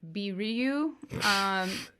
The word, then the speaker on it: Vilui: Her name in Japanese is pronounced Biryu.